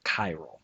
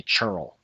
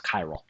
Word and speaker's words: chiral: you pronounce that word chiral it's weird you'd think it'd be churl but it's chiral it's a greek again